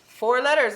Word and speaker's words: foreign: how did you make how did you do the n syllable for four foreign making that sound so use the same ones that you see in four and solver i g n yes sovereign yes i